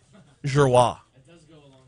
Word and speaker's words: Giroir: was the only one that knew how to pronounce his name. Giroir.